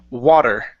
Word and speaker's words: water: Give me a uh a good D sound instead of water with a Spanish D. It's water.